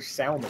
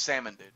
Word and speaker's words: salmon: They're salmon, baby. No, it's pronounced salmon, dude.